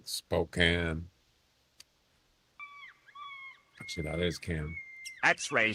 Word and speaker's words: Spokane: It's can, not cane. Like, you know, a can with food. Except like she's all right. She's all right. Spokane.